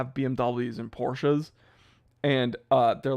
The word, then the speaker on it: Porsche: Is it Porsche or Porsche? Okay, so here's the thing. Here's another thing people complain about. I say Porsche. I also don't care about people pronouncing it Porsche.